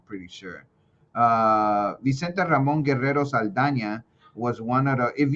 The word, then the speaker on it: Saldaña: Vicente Ramon Guerrero Saldaña was one of the if you guys ever see this little N with the little squiggly thing on top, you Yeah. pronounce that with a ña, I see how you just Saldaña.